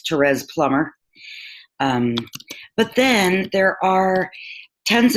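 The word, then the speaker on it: Therese Plummer: write this down because it's not exactly pronounced the way it's spelled but it's Terez Plummer but then there are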